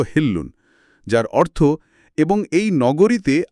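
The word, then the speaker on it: حِلٌّ: এরপরই আয়াত 2-এ বলা হয়েছে, ওয়া আনতা হিল্লুন বিহাজাল বালাদ, এর শুদ্ধ উচ্চারণ হল হিল্লুন, যার অর্থ এবং এই নগরীতে আপনার জন্য সবকিছু বৈধ বা আপনি এখানকার নিয়ন্তা।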